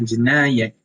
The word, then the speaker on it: Jinayat: Tapi dalam Islam sebutannya adalah jenayat.